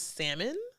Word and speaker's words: salmon: never said salmon since I guess it's salmon not salmon with an L but that was another